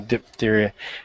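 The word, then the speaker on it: diphtheria: comments the f is the word is pronounced F not P not P yep so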